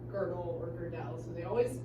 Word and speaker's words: Gödel: Gödel has an umlaut. Ah, you're right. Yeah. Now, I also don't know how to pronounce it.